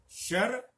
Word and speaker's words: शर: यहां पर ध्यान दीजिए, शर और सर में अर्थ का भी अंतर है।